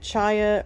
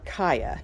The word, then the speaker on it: chaya: Some people are pronouncing it chaya or kaya. I like chaya. I don't know, because the H is in there. So it makes sense to me, I guess.